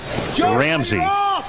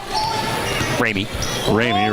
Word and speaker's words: Ramey: He's got both of his point guards out there, Bradford and Ramsey. Ramey, right? Said it wrong.